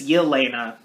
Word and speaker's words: Yelena: sounds like elena or just elena but it's yelena that's gonna be a hard name to pronounce and they're just enjoying their time at